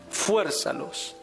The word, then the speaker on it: fuérzalos: lo dice Lucas cierto Y fuérzalos aquí tiene acento en la e fuérzalos a entrar esa esa